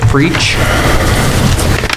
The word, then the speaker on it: Freach: Is that Freach? Is that how you pronounce that? Yes.